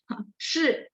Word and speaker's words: 是: Jadi yang jadi masalah yang saya lihat, yang saya observasi adalah memang belakangnya itu kita naik gitu. Jadi akhirnya nggak jadi nada 4. Nah, jadi teman-teman mungkin lebih sadar aja. Oh, berarti dihentak semuanya ya. Jadi ekornya jangan sampai naik ya.